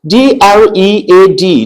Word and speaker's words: dread: D R E A D.